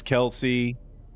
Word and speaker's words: Kelsey: A lot of people can't even pronounce Kelsey. They'll say Kelse.